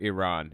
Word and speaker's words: Iran: right now I real or Iran it's pronounced Iran I'm sorry I really